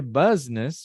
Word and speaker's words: business: E o que acontece aqui não é business, right? É business. E é uma das situações onde nós cortamos uma vogal. Uma sílaba inteira. Business.